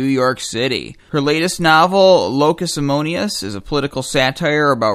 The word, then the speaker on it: Locus Amoenus: So I prefer Locus Amoenus.